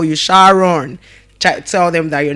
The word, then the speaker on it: Sharon: Sharon. It's pronounced as what?